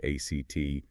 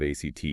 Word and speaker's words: ACT: We are diving deep into acceptance and commitment therapy, or ACT, and yes, pronounced just like the word ACT.